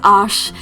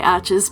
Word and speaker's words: Arches: love it and yes i am aware that it is pronounced ash but when i say it just sounds so horribly pretentious so i'm just going to say arches because that's how we